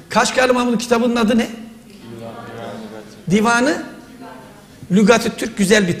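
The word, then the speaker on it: Dîvânu Lugâti't-Türk: Neyi sordum hocam kaç kahramanım kitabın adı ne Divanı Lügatit Türk güzel bir telaffuz lügati't-türk dedi anlamı ne Bu nedir Divanı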